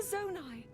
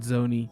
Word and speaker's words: Zonai: A Zonai. And these that's the only reason I know how to pronounce it, by the way. Hylians. I said Zoni, but then I heard her say it, so.